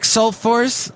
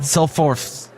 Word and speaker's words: Solfors: We're talking to Solfors of the group KINETICS. Wait, I didn't say it right. Solfors. Yeah, that sounds good.